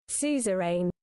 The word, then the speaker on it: suzerain: A Susie Rain. Well, let's get the pronunciation. Suzerain.